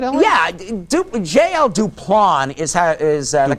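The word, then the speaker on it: Duplan: Duplon is the correct way to pronounce his name. Well, we pronounced it the Duplin Building.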